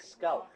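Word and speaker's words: skál: How do you say cheers in Icelandic? Scow.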